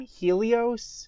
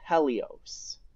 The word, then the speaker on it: Helios: Now, I know in the previous mission I pronounced the name Helios. Well, since then I've learned that the name is actually pronounced Helios.